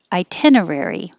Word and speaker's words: itinerary: this one i'm sorry itinerary itinerary its five syllables itinerary second one i